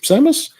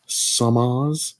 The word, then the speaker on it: Samus: samus's boots same as Samus I've heard it pronounced both ways so often it's it's Samus right yeah I know it's like samas is it samas Samus I've noticed